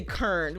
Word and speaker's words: Karen: And it comes from like people in Baltimore when they say they don't say Karen with 2 syllables. They say Kern. When they call me like they're like Kern, Kern. It's always just 1 syllable.